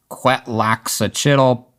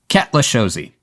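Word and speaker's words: Cuetlaxochitl: To me that looks like it should be pronounced something like quaka chiddle but ketchosi.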